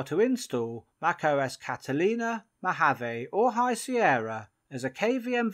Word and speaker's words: Mojave: Last year when the beta of Mojave came out, when I first read it, I thought it said Mojave.